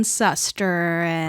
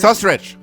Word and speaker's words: Susteren: Sustrich. Susteren.